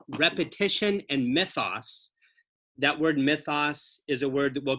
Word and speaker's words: mythos: I spell it M-Y-T-H-O-S. It's the Greek word for story or narrative or myth.